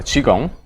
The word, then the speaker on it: Qigong: O Qigong è giusto o ho sbagliato a pronunciarla? Allora, Qigong.